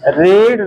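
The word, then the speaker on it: read: रीड, रेड, रेड। Spelling same है, pronunciation अलग है।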